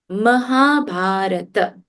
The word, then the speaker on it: Mahabharata: Then Mahabharata, not Mahabharat. Mahabharata.